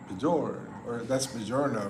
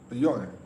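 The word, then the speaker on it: Björn: But yeah, it's one syllable, however. Oh, okay. Bjorn. Bjorn. Bjorn. Well, that's two syllables, right?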